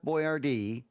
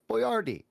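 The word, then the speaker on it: Boyardee: the name wrong yeah it's not Chef boy Rd it's Chef boardi here a more hear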